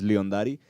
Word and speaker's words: Liondari: Como dejar en claro, es Liondari. Tampoco sabemos griego, no es nuestro fuerte, pero según el Google. traductor de Google, era Leondari, ¿no? La pronunciación de León, porque tampoco así se escribe, ¿verdad?